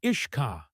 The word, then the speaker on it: uisce: got shortened to just yisha pronounced ishka when the English got